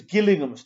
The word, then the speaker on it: Gillingham: with him uh yes so it's Gillingham not J gillig indors how it's pronounced temp I remember once